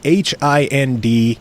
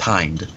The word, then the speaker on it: Hind: I'm pretty sure it's actually supposed to be pronounced Hind.